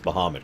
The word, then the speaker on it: Bahamut: Hey, at least they pronounced Bahamut correctly.